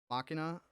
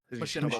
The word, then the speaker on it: Machinima: Machina, Binding of Isaac, Super Meat Boy era of YouTube that will always hold a special place. That's what she. Is it Machinima? Machinima. I'm Yeah, sorry, Machinima.